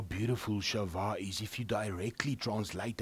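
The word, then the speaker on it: שבע: is the hebrew word shava now shava means to be complete because he's given a promise he's sworn to abraham isaac and jacob this promise and shava sometimes they pronounce it as shiva and in hebrew is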